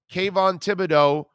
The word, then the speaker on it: Kayvon Thibodeaux: k von thibodeau i think is how it's pronounced right i think it's kayvon kayvon thibodeaux is going to be one of the top